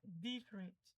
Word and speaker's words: different: pronúncia correta seria different. Aqui, além de você fazer essa eh essa forma que você iria falar em português, você precisa ver onde é que tá a entonação, no di. Sabendo disso, você já certa a palavra. Então, different, a intonação tá no di.